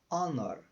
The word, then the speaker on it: honor: hour an honest Man Honor Honor honra você não pronunciou H então an Honor uma